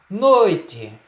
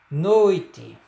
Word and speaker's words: noite: Noite, ó, noite é no e não nó, tá?